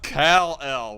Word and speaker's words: Kal-El: It's pronounced Kal-El.